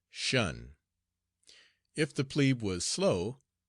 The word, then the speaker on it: shun: the command shun squad, abbreviated from attention and pronounced shun.